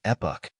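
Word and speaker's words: epoch: English it is spelled as EPO the correct pronunciation of this word is epic epic means a particular period of time in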